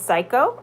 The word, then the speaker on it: psycho: he's the a has no sound psychic and psycho is how you say psychic and psycho and